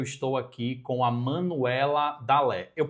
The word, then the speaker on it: Dalé: E hoje eu estou aqui com a Manuela Dalé. Eu pronunciei seu nome correto, certo?